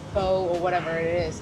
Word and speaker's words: pho: Don't say pho, don't say pho, don't say pho, or whatever it is.